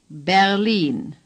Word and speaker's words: Berlin: Berlin.